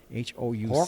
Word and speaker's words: Houck: Colin Hawk. Yeah, I may pronounce the last name wrong. It's Houck. Houck.